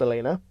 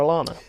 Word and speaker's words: Elena: It's going to have to be some cheeky editing done on that episode because it is pronounced Elena, and we did keep calling her Alana.